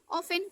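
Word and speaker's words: often: ऑफन T silent है, 10 में T silent है, O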